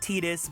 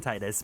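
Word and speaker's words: Tidus: character his canonical name it's supposed to be pronounced tetus but I pronounce it Titus because that's how I grew up um and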